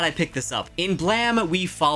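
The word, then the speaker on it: Blame!: Blame? But apparently you pronounce it Blam.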